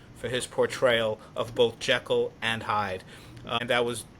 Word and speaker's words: Jekyll: And that was um an interesting thing too in it they they pronounced Jackal as Jel. So it it took the next movie to really make it uh the more standard pronunciation and that next movie